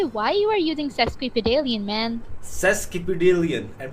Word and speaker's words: sesquipedalian: बोल सकते हो कि why you are using sesquipedalian, man? sesquipedalian and पे man बोल रहा है No. It's like a Sesquipedalian. expression. S-E-S. seskibideen Oh, no. Q-U-I. क्यों अच्छा इसकी स्पेलिंग भी मुश्किल है sesquipedalian Sesquipedalian.